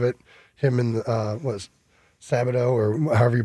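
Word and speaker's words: Skattebo: him and uh what Sabado or however you pronounce the running back. Uh the Scataboo. Scataboo.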